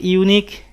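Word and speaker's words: unique: ইট ইজ এ ইউনিক diary, এখানে উচ্চারণটা ইউ, এই কারণে এ বসানো হয়েছে।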